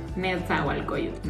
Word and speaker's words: Nezahualcóyotl: Sí, se pronuncia, déjenme lo leo. Ya lo habías dicho. Nezahualcóyotl. Nezahualcóyotl.